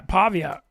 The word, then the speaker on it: Pavia: that how you say it Diego Pavia yeah Pavia they found a dude there and getting him